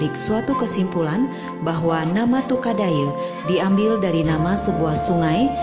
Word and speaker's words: Tukadaya: Dari kedua di atas dapat ditarik suatu kesimpulan, nama Tukadaye berasal dari kata tukad dan aye, lama-kelamaan lafal pengucapan berubah menjadi Tukadaye.